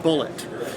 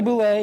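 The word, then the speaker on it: bulette: So now, as a whiskey fan, I just call it Bullet.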